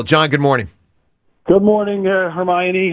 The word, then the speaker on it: Hermione: So I'm Hermione. You're adding an extra N in there. So I got to just extend the I. Hermione.